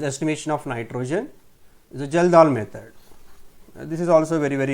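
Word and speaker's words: Kjeldahl: Now we will see the second method, that is estimation of nitrogen, is a Geldahl method. This is also very important. Geldahl's method. K is silent, we can call Geldahl directly.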